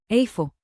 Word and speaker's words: איפה: Today's magic phrase, where is, which in Hebrew is, Afo.